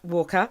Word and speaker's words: Walker: is hello the lovely Mr Curtis water Walker see I did I did it do you know sh and I all morning have been mispronouncing your name don't ask me why it's not like I've got a of water we've been calling you Curtis water all morning and we threatened to